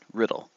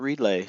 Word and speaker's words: Riddle: That's right, Riddle. Not relay, not Reedla, not Rydell, not Riddell. Riddle. Just like it's spelled.